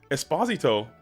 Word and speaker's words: Esposito: accent but yes Giovani I think it's Esposito Esposito yeah just Esposito you pronounce it perfectly it's just Esposito no way it's just